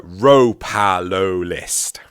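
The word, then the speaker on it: Ropalolyst: Sorry, Ropalolist. Nice. Ropalolist. Yeah. Ropalolist? No, Ropalolist. Because ro and lo need to be in the same fucking word.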